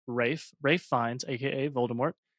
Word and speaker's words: Ralph: I did look up how to pronounce his name, and it's Ralph Fiennes, a.k.a. Voldemort. It's not Ralph? No, it's a British pronunciation.